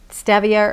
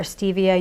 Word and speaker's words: stevia: And unless you really don't care for stevia or stevia, you can pronounce it both ways, I believe.